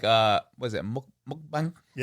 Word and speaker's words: mukbang: could do some like uh was it mukb mukbang? Mukbang.